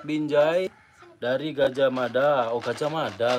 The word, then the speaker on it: Gajah Mada: Oh, Gajah Mada. Tadi saya kira itu Gajah Muda . Awalnya saya membacanya sebagai Gajah Muda .